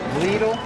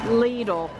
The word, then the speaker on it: Lidl: So how do you pronounce it? Lidl. Lidl.